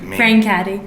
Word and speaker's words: Brancati: of other stuff Paula brain caddy did I say it right yes brain caddy yeah yeah I did